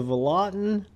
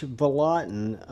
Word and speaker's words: Vallotton: And this is the Vallotton, and I think I'm pronouncing that right, Sub-Hilt.